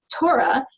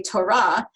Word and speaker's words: Torah: heavily influenced by yish so we say Torah the penultimate stress and some Jews do say Torah intentionally to try to sound closer to that is Norm but I would say most Jews pronounce that and many other words with penultimate stress not just because of the influence of Yiddish but also because English has that same structure of mostly penultimate stress so that the word